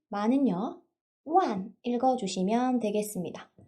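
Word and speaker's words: 万: 링이라고 읽어주시면 되겠고요. 100은요. 빠이, 천은요. 치엔, 만은요. 완 읽어주시면 되겠습니다.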